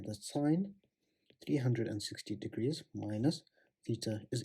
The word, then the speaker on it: sine: 180 degrees minus theta is equal to minus sine theta okay and we can get similar relationships